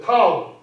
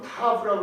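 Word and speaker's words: ת: 타우. 이게 어떤 영어 발음은 타브라고 그러는데 이게 한국식 발음으로 그냥 크게 하세요. 타우.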